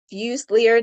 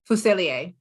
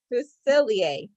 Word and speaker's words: Fuselier: Debbie Harris and Monica used leader did I say that right how do you say your last name Monica fuselier oh what is that what wow okay who's sillier that's it exactly yes okay okay awesome